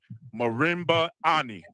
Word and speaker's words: Marimba Ani: It's called An African-Centered Critique of European Cultural Thought and Behavior by Marimba Ani.